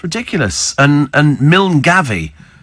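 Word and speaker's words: Milngavie: on from the side it's ridiculous and and milavi mulgi that's a Scottish one though for those people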